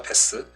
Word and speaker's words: bass: 베스. 음악에서 저음부를 의미할 때는 베이스고, 베이스. 여기 있다. 5번 물고기를 의미할 땐 bass, bass군요. 네.